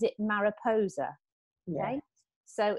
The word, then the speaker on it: Mariposa: i'm from the wiltshire area uh but kate pronounces it mariposa okay so it's m-a-r-i-p-o-s-a you pronounce how you want you'll still take